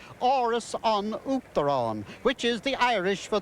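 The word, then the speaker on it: Áras an Uachtaráin: That is Aras un Uachtaráin. I'll spell it. I won't spell it. It'll take too long. I'll say it. Oris on Uachtaráin, which is the Irish for the House of the President.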